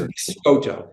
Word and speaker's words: Biscotto: so difficult so it's biscoto so like you know bis like an Italian cookie right right so these are biscoto which Isis word for